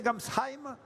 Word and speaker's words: Gamsheim: Bonjour, j'ai bien prononcé Gamsheim? C'est bien ça, c'est un peu au